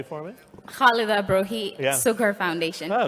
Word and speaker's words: Khalida Brohi: Haladia Brohi is the founder of the Sukhur Foundation in Pakistan. Say it correctly for me. Khalida Brohi, Yeah.